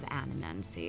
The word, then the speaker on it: animancy: These Valians and their love of animancy. That's how you pronounce it.